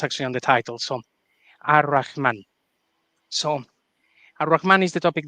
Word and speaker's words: Ar-Rahman: need to say is it should be pronounced Ar-Rahman, but throughout the video, we will probably be saying Al-Rahman so that people understand that we're pronouncing the definite article as opposed to just being a little bit weird. It's not the right Arabic pronunciation, but I don't think